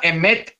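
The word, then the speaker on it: אמת: sea sin emet verdad en hebreo se pronuncia la palabra emet como veremos enseguida representa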